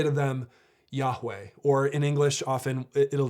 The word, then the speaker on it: Yahweh: name and we think the name might have been pronounced something like yahweh but it's not really